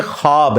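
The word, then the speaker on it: خواب: नहीं आ सकता अच्छा ये लफ्ज लिखने में है ख्वाब ख व अलिफ बा लेकिन पढ़ने में यह खवाब है व साइलेंट हो जाता है ख्वाब पढ़ा जाता है यह लफ्ज उर्दू में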